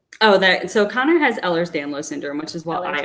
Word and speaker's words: Ehlers-Danlos: don't want to mispronounce this so can you pronounce it for me the oh that so conor has ehlers-danlos syndrome which is what i also have and